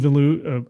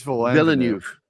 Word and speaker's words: Villeneuve: And So do you think it was Denis Villeneuve? I can never say his name correctly. How do you say it? I think it's Villeneuve.